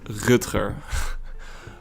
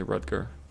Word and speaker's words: Rutger: So my name in Dutch, it's pronounced Rutger. Rutger. It's hard to say in English. Rutger. You can say Rutger. That's fine. But in Dutch it's different. Rutger.